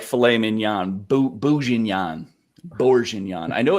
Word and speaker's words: Bourguignon: Reaver's helping you spell it. Say it like this, Ryzak. Bourguignon.